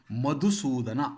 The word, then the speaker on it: ಮಧುಸೂದನ: ಕೃಷ್ಣನನ್ನ ಮಧುಸೂದನ ಎಂದು ಕರೆಯಲಾಗುತ್ತದೆ ಸೂದನ ಅನ್ಬೇಕಾದರೆ ದ ಅಲ್ಪಪ್ರಾಣವೇ ಇರಬೇಕು ಇಲ್ಲಿ ಸರಿಯಾಗಿದೆ ಅಂದ್ರೆ ಮಧುಸೂದನ ಎನ್ನುವಾಗ ಮಧು ಎನ್ನುವಲ್ಲಿರುವುದು ಮಹಾಪ್ರಾಣ ದ್ದು ಸೂದನ ಎನ್ನುವಲ್ಲಿ ಮಹಾಪ್ರಾಣ ಬರಬಾರದು ದಕಾರ ಮಧುಸೂದನ ಇಲ್ಲಿ ಕೊಟ್ಟಿರುವುದು ಸರಿಯಾಗಿಯೇ ಇದೆ ಉಚ್ಚಾರಣೆ ಎನ್ನುವಾಗ ಚ ಇದೆಯಲ್ಲ ಆ